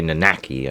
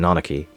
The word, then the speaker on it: Nanaki: Or I guess some people say Nanaki, I guess, but yeah. Hey. Yeah, some people call him Nanaki, I guess, but I call him Nanaki. Because I get, well, I'm pretty sure that's the JP pronunciation.